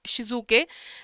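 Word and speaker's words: Shitsuke: Key everyday I'll follow this and shik uh then there is shizuk okay it's pronounced as shizuk.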